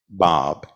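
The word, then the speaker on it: Báb: spelled b a b looks like bab pronounced Bob and u i i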